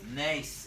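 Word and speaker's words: נס: itself how do you say miracle in Hebrew Nace is correct nice in the singular in the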